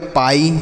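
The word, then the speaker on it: pie: ई लाई पी आई ई इसे हम पढ़ेंगे पाई क्या पढ़ेंगे बच्चों पाई उसी तरीके से एच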